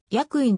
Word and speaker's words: 施薬院: 愛と同 8 施薬院と書いてせの子を読まず役員と読むのが正しいのである江戸時代後期